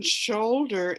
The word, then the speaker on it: shoulder: an uh sound and here in shoulder it's an o sound totally so um english